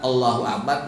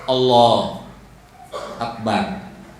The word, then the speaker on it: Allahu Akbar: lisan kita dari kalimat Allahu akbar, nggak sah pak sholatnya. Misalnya gini tak, Allah akbar, yang hilang huruf apa? U-nya itu nggak sah.